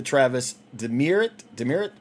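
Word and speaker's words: Travis Demeritte: Is numbered 17 out of 49, the Travis Demerit, that's how you pronounce his name.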